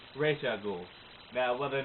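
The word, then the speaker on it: Ra's al Ghul: going to be doing my R ghoul timeline or Raza ghoul if you're one of those pronunciation stifflers but I'm just going to go with the pronunciation that I feel comfortable with the one that I grew up with the animated series one ra ghoul now whether or not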